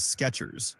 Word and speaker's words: Skechers: But the real spelling is Skechers, no T.